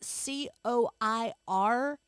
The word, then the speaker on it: coir: How do we pronounce said word? Coir.